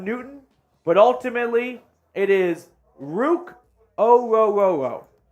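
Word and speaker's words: Ruke Orhorhoro: Personally, would have preferred Illinois' defensive tackle, Bijan Newton, but ultimately it is Rook Ororo. Ororo. That's how the pronunciation guide has it. It doesn't sound like that could even be right, but it is.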